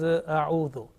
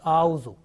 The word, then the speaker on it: أعوذ: Okay, make sure that alif, which is at the same time becomes hamza because of fatha. Okay, hamza alif. This is only for 1 second. If we prolong that one, then the pronunciation will be wrong.